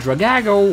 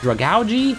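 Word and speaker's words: Dragalge: gets taken out with two sludge bombs and Drago which I just learned is supposed to be pronounced drug algae I just got lucky on that one and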